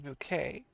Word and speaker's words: Bucket: I sent you this bucket loves me and also it's pronounced bouquet a bit of an